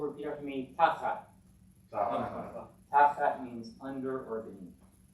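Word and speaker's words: תַּחַת: And finally, this accent on the first syllable, repeat after me. Tachat.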